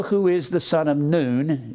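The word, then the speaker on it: Nun: Israel where Joshua who is the son of noon it's more properly pronounced known instead of none noon and Joshua was the son of noon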